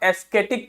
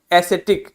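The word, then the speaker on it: ascetic: हो सकता है इसे आप एस्थेटिक पढ़ जाएं बट ये एस्थेटिक नहीं लिखा है ये क्या लिखा है एसिटिक क्या लिखा है एसिटिक लिखा हुआ है क्या लिखा है बच्चों एसिटिक लिखा हुआ है तो ध्यान दीजिए हमारा जो अगला शब्द है वह है एसिटिक अब एसिटिक क्या होता है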